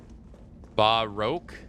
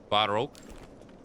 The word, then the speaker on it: Baroque: Baroque. Pronounce like oak, like woke. Oak. Baroque.